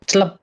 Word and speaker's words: CL1P: L1P kan bacanya kan celep.